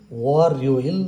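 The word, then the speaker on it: 월요일: र यसलाई हामीले उच्चारण गर्दा खेरि वरइल भनेर उच्चारण गर्छौ।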